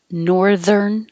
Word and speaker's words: northern: And the polar aurora is also called northern lights. And I made this TH bold to remind you that it's voiced.